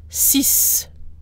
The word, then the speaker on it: six: not just cue the X at the end of the number six is also pronounced and sounds like s cease cease the tea at the